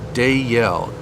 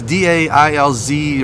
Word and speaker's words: Dalziel: exposed flex wiring method, pronounced Dayel, Instead of, we both got it wrong. Scottish. There's a Z in there. The Z is so it's DAILZ or whatever. So you don't pronounce the Z.